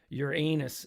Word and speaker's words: Uranus: beautiful yeah uh kego mashuko is saying um your anus is the correct pronunciation no matter what others say yeah it's